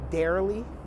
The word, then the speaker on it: Darrlyee: I call her Darrlyee, but she pronounces it Darrlyee. I don't like Darrlyee. She said it's like Daryl.